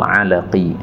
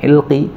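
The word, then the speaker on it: العلقي: IBN Sufyan albajri tumal alaqi alaqi ini bacanya apa ini apakah alaqi Apakah ilqi beliau katakan bifthatain pakai dua fathah berarti Aqi ini e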